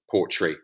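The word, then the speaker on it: Portree: isle of skye uh apparently it is pronounced poetry the largest town on the isle of skye there you have it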